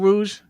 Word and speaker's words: rouge: Like That's a Moulin Rouge? No, Yeah. well, Rouge. it has an E. It has an E at the end. That's what I thought. The E is silent.